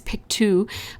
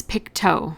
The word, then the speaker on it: Pictou: So Pictou is the county where my husband grew up, and it's pronounced, it looks like it's Pictou, but it's Pictou, like as in pick your toe.